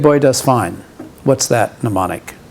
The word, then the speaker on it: mnemonic: have is we have mnemonics this is m n e m it's pronounced mnemonic so the first m is silent it's not menon minomonics it's mnemonics and what